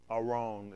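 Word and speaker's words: ארון: Aron is how you pronounce it.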